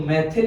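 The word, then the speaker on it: methyl: अगर CH3 को यूज करते हैं तो मैथिल या मिथाइल, जो भी आप प्रोनाउंसिएट करें, मैथिल लेंगे।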